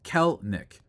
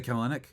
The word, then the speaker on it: Kelenic: It's pronounced Kelnick. Oh, did I say that? Did I say Kelenick?